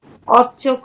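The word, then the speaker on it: अर्चकः: তারপরে মন্দিরম অর্চক মন্দিরাৎ। আর্চকঃ, ম্যাডাম বিসর্গ উচ্চারণ করতে হবে, আপনার বিসর্গ উচ্চারণ হচ্ছে না।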